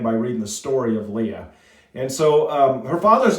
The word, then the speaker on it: Leah: All right, and it's pronounced Leah. There's basically it's the same.